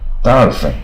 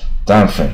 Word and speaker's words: diaphragm: 你看跟这个很像啊，可是发音不一样。Diaphragm 啊，它就没有肌的音啊。Diaphragm 就是横膈膜啊，这是一层肌肉啊。